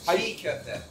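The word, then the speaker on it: çiğ köfte: I'm sorry if I messed up the pronunciation. How do you say it? Right there. Sigkofte.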